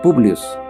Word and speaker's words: Publius: Este nombre viene del idioma latín, que significa público o del pueblo, y que es una variante del idioma castellano y que se pronuncia Publius.